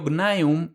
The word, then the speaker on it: Gnaeum: Escribimos un praenomen y le ponemos una c inicial, aunque cuando pronuncio gnaeum lo hago con g porque la voz sustituye